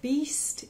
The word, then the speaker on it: Bist: goes like this so Beast is like a beast an animal do d double O